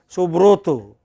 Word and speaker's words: Subroto: Okay, depends, but you know, in other language, suppose it is a Bengali speaker, they say Subroto, okay, then they are doing the bro.